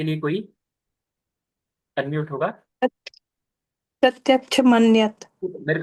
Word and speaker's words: प्रत्यक्ष: छ नहीं क्ष है जो क और श से मिला है क तो तो कबूतर वाला आप जानते ही है और दूसरा जो श है वह षट्कोण वाला है प्रत्यक्ष इस प्रकार से इसका उच्चारण करना चाहिए प्रत्यक्ष मन्यत इस प्रकार